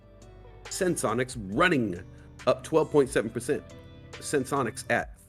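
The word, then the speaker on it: Senseonics: Sensonomics cruising hardcore right now. Did I say Sensonomics? Dang it, I said it wrong again. Sensonics running up 12.7%.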